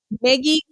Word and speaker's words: Meggie: to introduce you to Maggie Maggie I forgot to ask you is that how you pronounce your name hi Tracy my name is it's French Maggie okay oh my gosh